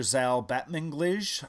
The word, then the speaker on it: Zal Batmanglij: The East is the kind of follow-up to Britt Marling and the director Zal Batmanglij. I think I'm pronouncing that correctly.